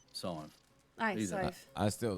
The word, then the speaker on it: Sadhbh: Scythe. Aye, Either. Scythe. I still don't think I can say it right. It's literally like the number 5, but you put an S in the front of it.